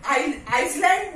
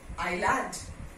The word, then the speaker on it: island: This is island. Okay, debris. Debris, S is silent. Okay? And this is I. S is not. Got it? It has to be written, but it is not pronounced.